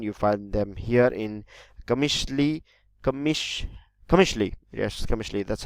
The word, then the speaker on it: Qamishli: here in Afrin you find them here in Qamishli Commission Qamishli yes commercially that's how you pronounce it commercially you also find them in in Damascus that